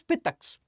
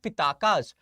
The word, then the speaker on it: Pitakas: holy scriptures, that is Pitaks. You call them Pitaks. Fine. Pitaks. You must have heard about Pitaks, but most of the people call it Pitakas. In actual pronunciation term, they are Pitaks.